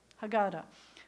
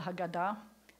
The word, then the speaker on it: Haggadah: for the Seder is called Hagaddah which is a nice Ashkenazi pronunciation I like how you did how God a means the telling and I learned something today about why it's called the Haggadah and kind of a